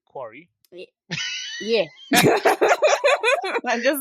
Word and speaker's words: Quarry: watch you watch um game play of the query Quarry yeah I just mispronouncing yeah of the quy yeah yes the